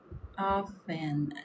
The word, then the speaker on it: often: Often. Nós não pronunciamos esse T.